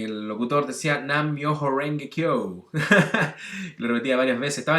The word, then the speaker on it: Nam Myoho Renge Kyo: letra más parecida, pero no se pronuncia re, sino que se pronuncia de, como en cara.